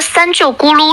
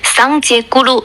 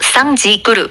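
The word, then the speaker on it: སངས་རྒྱས་གུ་རུ: 你说的三舅咕噜是口语谐音，标准藏语读音是桑杰咕噜，桑吉咕噜。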